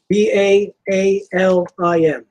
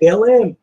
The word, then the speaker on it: Baalim: how do you spell it? All right. That's why I said let me read it. B-A-A-L-I. B-A-A-L-I-M.